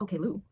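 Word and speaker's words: Oklou: Oh, it's pronounced Okay Lou. Wait, for real? Somebody said, can you please tell me how to pronounce Oklu? Okay Lou?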